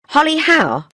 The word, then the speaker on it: Holly Howe: you like to come with me says Julie Holly Howe yes that's right Diana is silent Diana says Julie what's the matter uh